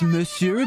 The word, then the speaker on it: monsieur: yo hey hey it's pronounced Monsieur but it's okay a nice trip please